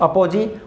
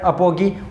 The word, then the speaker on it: अपोजी: अपसौर को बोलते हैं अपोजी और इसको बोलते हैं प्रीजी, या फिर कभी कभी इसका उच्चारण अपोगी और प्रीगी के इसमें भी किया जाता है।